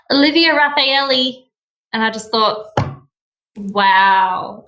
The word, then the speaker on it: Raffaele: So whilst we're on the subject of pronunciation, how do we actually pronounce your surname? Okay, so it's Raffaele, but when people look at it, and especially